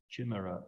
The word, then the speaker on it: chimera: What is the chimera of growth? I'm told that's how you pronounce that word in English. I know how to pronounce it in Portuguese.